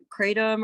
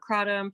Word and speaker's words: kratom: in that regard is kratom or kratom. People pronounce it differently.